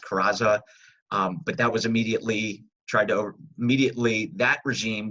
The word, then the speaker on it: Carranza: It died down, and the Huerta regime was overthrown by I believe it's pronounced Carranza.